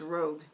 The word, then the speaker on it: Rogue: shades rouge or devoted is that rouge no it's rogue i'm sorry i'm pronouncing that wrong it's rogue i didn't see what